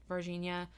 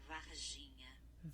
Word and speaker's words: Varginha: So, and he actually goes to Varginha and interviews people who were there, because this was less than 20 years ago.